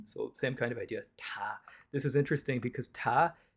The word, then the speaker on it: 它: So in the Chinese language, there's three uses of ta. Ta means him. Ta, same pronunciation, means her. And ta means it, as in belonging to something which is not human. And so in regard to, they're all the same pronunciation, all first tone, but they have totally different meanings.